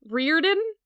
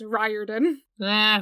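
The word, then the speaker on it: Riordan: that's wrong so there's still people who think that Rick's name is rein so uh y'all are cancelled if you think that he literally has said in multiple interviews it's ryen n who cares tomato tomato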